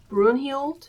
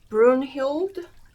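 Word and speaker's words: Brünhild: So this guy these people are um Brun and Sigfried. Let me double check the pronunciation. Ah so um Brunhild and Zigfried.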